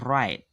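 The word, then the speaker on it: write: Nah, kalau dalam pembacaan yang seperti ini, teman-teman bisa membacanya dari R-nya aja, jangan dibaca W-nya. Jadi, pembacanya right, right, right.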